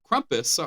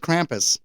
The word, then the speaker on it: Krampus: brought aboard his cramp kumus I said it kumus writer uh co-writers I like Krampus I do too that's because it's spelled that way uh co-writers Todd Casey